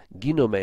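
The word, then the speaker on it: γίνομαι: The actual word is, as I said, from ginomai. Let me show you again, or ginome is the actual correct pronunciation there.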